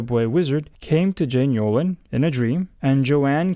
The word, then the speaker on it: Yolen: ends with E, and her last name vaguely rhymes with Bolin. Unbelievably specific, right? The book's name is Wizard's Hall. It was written by Jane Yolen and published in 1991,